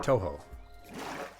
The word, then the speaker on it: Touhou: described by Dracula Flow, or even like Touhou characters, or Tuhu? I don't know how it's pronounced. I want to do one that's Undertale characters as described by Dracula Flow. You have a question, Lownuts? Absolutely. I am happy to answer them. Toho? Okay, Toho.